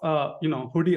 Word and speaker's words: Hudi: Apache Hudi, pronounced as Hudi, is a next generation streaming data lake platform that brings core warehouse and database functionality directly to your data lakes.